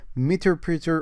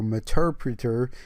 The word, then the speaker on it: Meterpreter: write meter printer so it's either pronounced that as meterpreter or materpreter it depends on the country that you live in i believe so i'm going to call this meterpreter and it's spelled as